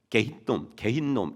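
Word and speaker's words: 게힌놈: 들어보셨죠 흰 놈 골짜기 요게 이제 그 히브리어로는 개인 놈 이렇게 발음이 되거든요 개인 놈 그래서이 개인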